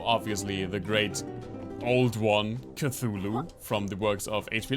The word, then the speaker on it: Cthulhu: pronounce what we call Cthulhu. It's actually supposed to be 2 syllables with the tongue to the roof of your mouth. So it's something like Cthulhu.